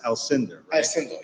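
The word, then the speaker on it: Alcinder: name on this application it's pronounced al cinder that's also good so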